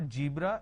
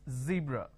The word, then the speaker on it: zebra: for example zeal okay now what people make a mistake is they replace the z with a ju so what they do is they pronounce this as jibra john so please don't make a mistake the moment you replace the serve with a jar it's a mispronunciation it's not jibra it's zebra it's not john it